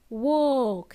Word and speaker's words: walk: counting with you remember the word walk has a silent L it's not walk we don't say walk it woke has a long Oh sound I don't want to hear L in there okay swallow it so